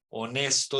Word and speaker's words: honest: silenciosa como en español muda como decimos por ejemplo en hora decimos Hour honesto decimos honest honestidad honestidad listo entonces hay